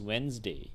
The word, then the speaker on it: Wednesday: It might be spelled Wednesday, but you don't really pronounce the letters in the center here, right? So the pronunciation for this particular day is Wednesday.